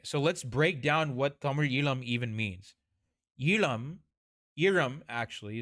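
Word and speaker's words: Eelam: I'll say it in an American accent so you guys can say it, and then I'll say it properly in Tamil. Tamil Ilam.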